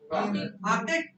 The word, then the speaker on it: Arctic: R stretch होगा या नहीं होगा? Arctic. क्या pronunciation होगी? R stretch नहीं होगा.